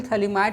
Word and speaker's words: Phthalimide: इसमें PH एक तरह से यहाँ साइलेंट है, थैलीमाइड इस तरह से लिखा जाता है।